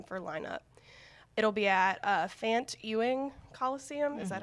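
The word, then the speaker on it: Fant-Ewing Coliseum: It'll be at Fant Ewing Coliseum. Is that how you say it? Yep. Fant Ewing Coliseum on ULM campus, and they do not have to apply for graduation.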